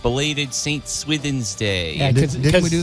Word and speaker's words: Swithin: Sonny and chair um so originally I thought you I thought Saint swithin was Saint swiven like the s-i-w or swimming you said swimming one time yeah because I couldn't tell the way you pronounced but it's s-w-i-t-h-i-n-s and I'm sure Alan